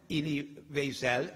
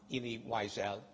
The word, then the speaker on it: Elie Wiesel: La prononciation de son nom est Elie Wiesel, mais en Amérique du Nord, il est connu seulement comme Elie Wiesel, plus facile pour beaucoup de personnes.